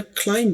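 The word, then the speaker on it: climb: इसी तरह क्लाइम बोलना है। क्लाइम ब नहीं कहना।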